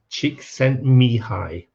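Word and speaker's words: Csikszentmihalyi: name was a bit of a mouthful to pronounce but it's mihai chick sent me high chick sent me high interest in them right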